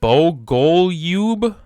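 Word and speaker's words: Bogoljub: So if you want to know how to pronounce his name, it's Bogolyub. Buy one, get one is in his name, bro.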